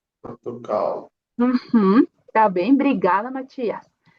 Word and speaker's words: Portugal: Logo temos aqui Portugal, uma L no final da palavra. Então a pronúncia vai ser como U, Portugal. Portugal.